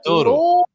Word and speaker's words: Douro: And Doro.